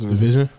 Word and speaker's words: DVSN: It's this artist called DVSN. I think it's pronounced Division. I could be fucking wrong. No, you're right. It is Division.